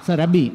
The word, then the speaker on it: Sarabi: Il film è Prelude, è in concorso ed è l'opera prima di Sabrina Sarabi, credo che l'accento sia corretto, spero. Sarabi, quindi l'ho detto giusto, proprio che Sabrina è